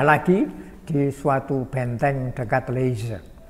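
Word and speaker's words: Liège: Lalu habis dibuang ke sana, dipindah lagi di suatu benteng dekat Leyze. Di Leyze ya, Z. G itu dibaca Z seperti Gianyar, orang Prancis bacanya Zianyar.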